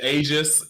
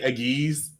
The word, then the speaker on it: aegis: right 90s dubs don't even know how to pronounce the english language it's it's aegis if you're listening and if you say aggies you're dead you cut off yeah if we're